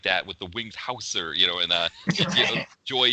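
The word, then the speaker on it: Hauser: you say it like if we were saying Wings Houser before maybe now we can change it to Houser right right exactly we were saying it wrong the whole time and that was the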